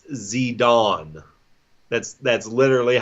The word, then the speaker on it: Zidane: have waka Sudan which is so how you pronounce his name it's not sedan or Zidane its Zidane that's that's literally how you pronounce his name Zidane that sounds term and I try I looked